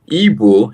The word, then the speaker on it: Igbo: so yes ebo the right pronunciation is ebo but because uh the